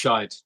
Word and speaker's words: Skeid: It's pronounced Skeid.